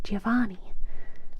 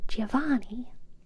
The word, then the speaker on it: Giovanni: Try to put the accent on the A. Giovanni. Like Giovanni.